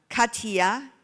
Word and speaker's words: Kattiya: Kattiya Indaravijaya. I just learned her name, how to pronounce it.